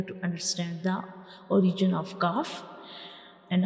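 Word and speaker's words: كاف: understand the origin of calf and how we pronounce calf, how we originate calf. So when we pronounce calf, the back of the tongue will touch the hard palate.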